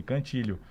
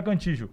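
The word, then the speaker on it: Cantillo: chegou para dar entrevista seu nome como que pronuncia ele cantilho mas tu não fala Contijo não da região que eu nascer cantilho então tá bom né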